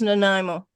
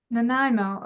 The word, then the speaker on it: Nanaimo: Pacific Gardens Pacific Gardens ah yes and it's pronounced Nimo Nimo okay beautiful yeah thank you for sharing I've